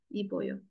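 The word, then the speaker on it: 입어요: Oke, Ipta pengecualian. B-nya tetap. Ip, boyo. Ya, ingat yang ini. Biarpun ada B, tapi tetap B-nya nggak hilang. Iboyo.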